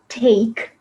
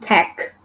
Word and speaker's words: take: thing you know like when you say like take it's not tech because tech is like when you tag your friend uh on fb or on instagram you know that's tech yes yes but so take the way we pronounce also influences the meaning and then when you